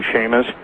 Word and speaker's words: Chamish: Yes, and interestingly enough, really interestingly enough, I don't know if you've ever read any of Barry Chamish, Chamish, or some people pronounce his name Shamish, from Israel, but he's